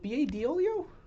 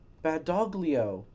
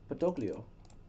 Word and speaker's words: Badoglio: name wrong is it bolio I think there's a g in there though no there has to be a g Petro B doio right oh badoglio badoglio BOGO I I said